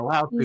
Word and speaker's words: Lao Tzu: Lao Tzu.